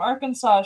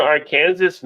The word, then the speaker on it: Arkansas: Isn't it Arkansas? No, it's Arkansas. Right. But it's spelled like Kansas with just an AR in front.